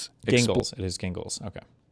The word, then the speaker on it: Gingles: Thornberg versus gingles. Gingles. It is gingles.